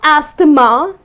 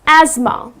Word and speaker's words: asthma: suffering from this disease called asthma it's not asta ma ok because the way it's spelled people tend to pronounce it incorrectly people tend to say hasta ma but it's not a stoma the correct pronunciation is asthma ok so that's the correct pronunciation another word